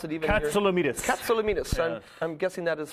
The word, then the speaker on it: Katsilometes: I can imagine you are, because nobody in the world can pronounce it even Katsilometes. Katsilometes.